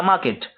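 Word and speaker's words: market: इसको मार्केट आर जो है वो साइलेंट है। तो इसको कहेंगे देयर वाज़ अ मार्केट।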